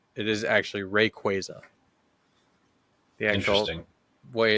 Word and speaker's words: Rayquaza: rqua or Rayquaza now it's it is actually Rayquaza the actual way it's supposed to be pronounced it's Rayquaza not Rayquaza that's what it is that's what I used